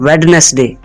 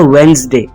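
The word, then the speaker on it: Wednesday: गलत प्रोनाउंस करते हैं वह लोग कहते हैं वेडनेसडे वेडनेसडे जबकि इसकी दुरुस्त अदायगी है वेनसडे वेनसडे इसमें डी साइलेंट है यह एक ऐसा वर्ड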